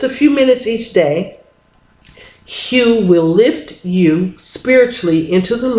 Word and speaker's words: Hu: It's pronounced like this. Hu. Hu.